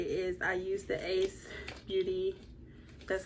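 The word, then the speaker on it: Ace Beauté: So what I do want to say is I use the Ace Beauty, that's how you pronounce it, Scarlet Dusk palette.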